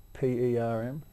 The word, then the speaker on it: Perm: P E R M. You spell Perm. Like how we used to wear our hair, Rob.